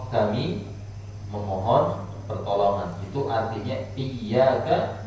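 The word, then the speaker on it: إياك: memohon pertolongan itu artinya iyyaka bittasydid adanya ada tasbihnya dan ditekan pelafalannya kalau kemudian ditafsif Wa iyyaka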